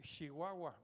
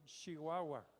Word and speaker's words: Chihuahua: y allá en chihuahua de allá es el chihuahua por favor se pronuncia bien chihuahua chihuahua se pronuncia bien cuando yo lo conocí